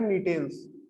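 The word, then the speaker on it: Gnetales: फिर एक ऑर्डर है जिंगोएल्स, और जो लास्ट ऑर्डर आपका आता है वो है नीटेल्स। जहां पर जी साइलेंट है नीटेल्स बोलते हैं इसको।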